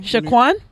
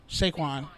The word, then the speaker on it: Saquon: Shaquan? Saquon. How do you spell that?